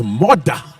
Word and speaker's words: Murdah: Which, if you're from Scotland, it's all right, it's Murdah. Murdah. But in English, it's badly spelled.